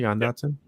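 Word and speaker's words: Jahan Dotson: That's how you pronounce it, Jan Dotson.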